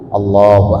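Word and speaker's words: الله: Allahu akbar tidak boleh lafal Allahu jangan terlalu panjang bacanya Allah itu kan Mad Thobi'i Mad Thobi'i itu kan berapa Dua Alif Allahu akbar kalau terlalu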